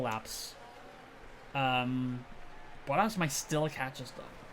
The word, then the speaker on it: Bottas: Mispronunciation is now a running joke, so now it's Bottas, but I just say Boas.